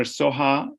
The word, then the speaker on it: Soha: Dr. Soha is S-O-H-A. It ends with an A. And I apologize for that, Mike Ellis, because you pronounce it the way it was written.